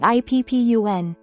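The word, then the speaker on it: 一分: Replace this with PP, making it PPUN. For the ichi part, the process is the same as before with ko or to. Remove chi from ichi, leaving just I. Then, add PPUN after it, making it IPPUN.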